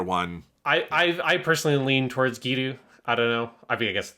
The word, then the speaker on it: Giru: Japanese actors say it, it doesn't sound like they're emphasizing a 2-syllable Giru. It sounds like the Ru is an L.